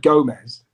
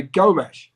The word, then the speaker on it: Gomes: you call him andre gomes instead of gomez well they would pronounce the s with a sh in portugal so we would say gomesh but if if we